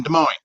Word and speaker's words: Des Moines: My ass will be in Des Moines. Des Moines. Yes. Des Moines, yeah. It's everything. We have 4 S, but none of them are pronounced in the name.